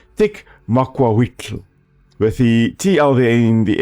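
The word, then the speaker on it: macuahuitl: this one the tick weapon now I always pronounce this as tick Marquita but it is actually pronounced tick makwaitl with the TLA in the end mobile sound than the true sound so tick mukwaito and it is from the language called which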